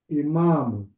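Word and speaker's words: إمام: Dalika imamun. Mun. Imamun. Imamun. Nah, tanwinnya harus dibaca ya.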